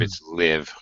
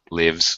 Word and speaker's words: live: Yeah, when it's a verb, it's live, lives, lived. Live. Right. It's a long I when it's an adjective. Live. Or a noun. An adjective like a live performance or life, the noun.